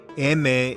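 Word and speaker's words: eme: incarceration in tracy california emme is the spanish phonetic pronunciation of the letter m not to be confused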